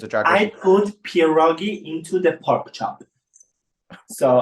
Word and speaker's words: pierogi: By the way, when they did the titles, it's pierogi. Yeah, it's like dumplings, basically. I will not spell it wrong in this article.